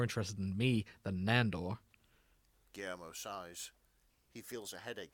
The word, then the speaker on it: Guillermo: First of all, it's Guillermo. Learn to say it correctly.